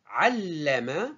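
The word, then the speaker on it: علّم: Al, ensuite la, ensuite ma. Al, c'est une syllabe avec soukoun. La, c'est une syllabe simple. Ma, c'est une syllabe simple. Donc la, elle est composée de 2, c'est-à-dire plutôt, elle s'écrit double, elle se prononce double.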